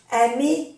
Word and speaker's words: aimer: También hay que acordarse que en francés, cuando la palabra termina por ER, porque son verbos de primer grupo, y terminan por ER, se pronuncia E.